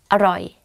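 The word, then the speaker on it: อร่อย: Aroy, delicious. So, aroy, aroy, a, roy. And you say it faster, aroy.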